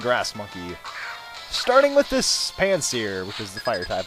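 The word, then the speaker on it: Pansear: Although I'm pretty sure we're all at a consensus that it's pronounced Panseer.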